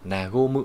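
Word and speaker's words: 和む: Thì cái cách đọc của nó sẽ là nagomu nhé.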